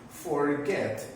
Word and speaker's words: forget: In this case, forget is a verb of 2 syllables. Forget. Okay? To accomplish this rule is necessary the pronunciation of the verb. Okay? Is in the second syllable, or sorry, in this case, the last syllable, la última sílaba.